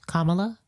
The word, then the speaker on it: Kamala: If a child can pronounce Kamala, then an adult can pronounce Kamala. As the baby said, it's like comma, like in a sentence, and la la la.